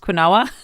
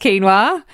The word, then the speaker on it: quinoa: quinoa quu i n o a it's not pronounced quoa it's pronounced quinoa but it is a very protein Rich grain